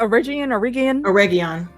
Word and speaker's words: Eregion: Eregion. Thank you. It reminds me of a spice. And I can't remember which one, but that's how oregano.